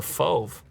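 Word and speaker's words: feu: i have selected is fov it's like a brown blue blue indigo and orange no i think i got the fove i know how you pronounce that it's like move but with an f if you look closely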